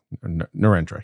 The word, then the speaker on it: Narendra: Narendra, yes.